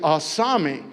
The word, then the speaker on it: asami: This is how you say asami. It's just a memory aid to help you remember it. So do it just like this. I saw.